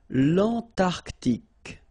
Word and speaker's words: Antarctique: Remember, Q-U-E here, it's K. Okay, so tic. L'Antarctique, l'Antarctique.